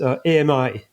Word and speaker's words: AMI: within within Meta is AMI, Advanced Machine Intelligence. Okay? This kind of a much more open concept. We actually pronounce it "ami", which means friend in French.